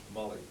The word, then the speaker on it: Mayall: How do you pronounce your surname? Molly. Molly. They call you Molly, or Molly. No, yeah, come on. Where I come Yeah. from, Molly's a girl's name.